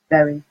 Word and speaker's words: Bury: We have a town near us called, spelt the same way, so we call it Berry instead of Bury, however you want to pronounce it.